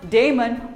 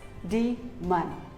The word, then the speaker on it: daemon: similarly here's another word it is not daemon or demon it is d man demon here are some more